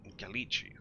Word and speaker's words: Gallici: Gallici, that's how we pronounce his name.